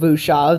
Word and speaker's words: Whoosh-av: After I finished the sketch of Whoosh-av, that's the pronunciation in case you couldn't tell, I thought an organ would suit him pretty well.